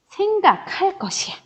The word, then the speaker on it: 생각할 것: 그래서 얘를 어떤 것인데 생각할 것이야. 이렇게 되는 거죠. 것은 것인데 어떤 것이냐면 생각할 것이에요. 근데 여러분 보시면 앞에 리을로 끝났어요. 그리고 기억으로 시작됐죠. 그래서 잘못 썼네요. 생각할 것. 요렇게 발음을 해준다라는 겁니다.